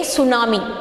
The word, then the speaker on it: tsunami: first letter is t actually the t is silent okay t is u